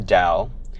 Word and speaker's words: Tao: thinking about the universe it's called Taoism and spelt ta o with pronunciation is for the D and the the first line of the Dow says if you name